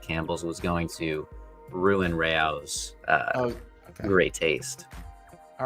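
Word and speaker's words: Rao's: The pasta, according to AI, the pasta sauce brand AOS is pronounced rayos. It's not pronounced rose or rouse. Ryos.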